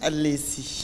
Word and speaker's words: Al’lèèssi: Je prononce bien ? Alessi.